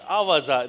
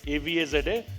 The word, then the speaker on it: Avaza: Sunitha ji recently launched Avaza. That is how it is pronounced. AVAZA.